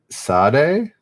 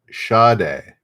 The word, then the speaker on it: Sade: to pronounce this but is it sade it's not sad obviously shade oh is it really here's a shade okay there we go shade today i learned sade all right what gum